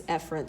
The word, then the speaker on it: efferent: Again, you would actually pronounce this efferent. So it's afferent and efferent, but those sound very similar.